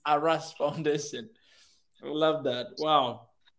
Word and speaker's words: Aras: Aras Foundation. You're making it sound as if harass.